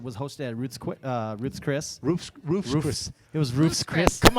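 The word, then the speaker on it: Ruth's Chris: Roofs Chris. It was Roofs Chris. Come on, man. We're all Chicanos here. Hey, man. Say it like Hey, man. it's Roofs Chris. It's Roofs Chris, man.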